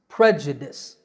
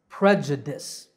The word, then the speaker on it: prejudice: the correct pronunciation is prejudice there are three syllables the first is pre the second is ja and the last syllable is dis prejudice prejudice up next we